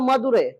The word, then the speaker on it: मदुरै: लेकिन इसका अलग अलग नाम उच्चारण होता था। इसका नाम क्या होता है? अलग अलग उच्चारण। तमिल में इसको कहा जाता है मदुरै।